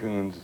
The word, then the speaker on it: Coons: Trent, let's see, you're suing Mr. Kunze, is that how you pronounce it, sir? Coons.